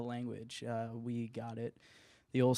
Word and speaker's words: Lvnguage: and G UA GE is the way to spell our pan name and to pronounce it's just the language we got it the